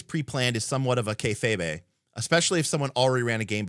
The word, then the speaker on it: kayfabe: Oh, it's just two syllables. I thought it was kayfabe. Kayfabe. Okay. Anyways, kayfabe apparently is how it's pronounced.